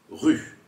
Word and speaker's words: rue: la fin du mot on ne prononce pas le E c'est ce qu'on appelle un e muet par exemple dans le mot rue on ne dit pas